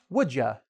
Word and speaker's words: would you: So, one: "would you", in speaking very quickly can be pronounced and often is pronounced: "wouldja". Okay? So it's like a "ja", "ja".